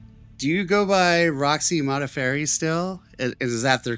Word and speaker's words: Modafferi: Uh, that is the correct way to say my last name. Uh, Mafairy. And I use Modafairy when I'm in the fight world.